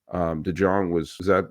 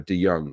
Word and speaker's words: DeJong: DeJong Chase DeJong was okay, but Bednar was really I'm sorry, DeYoung was he's so anonymous I didn't remember how to pronounce his name.